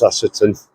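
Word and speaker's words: Ashopton: I think it's pronounced Ashetton.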